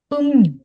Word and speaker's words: 음료: Нагадую, що коли в нас є пачим мім літерка і наступна літера склад починається з ріль, то цей ріль в нас асимілюється в нін. Так, тобто вимовлятися. Це слово буде як мню.